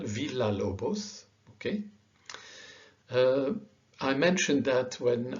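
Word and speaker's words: Villa-Lobos: is still an l double l is pronounced like el villalobos okay i mentioned that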